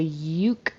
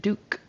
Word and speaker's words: Duke: I heard her say y uke instead of Duke Street. Sounded like a Y instead of that D. It should be a D. Duke Street.